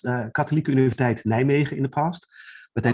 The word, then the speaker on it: Nijmegen: And how do you pronounce that? It's Nijmegen or? Yeah, well, here they say Nijmegen with a soft. Okay. But I pronounce it as Nijmegen. Okay. An American would pronounce it as Nijmegen. Okay. Yes, it's Nijmegen. So J and M is silent.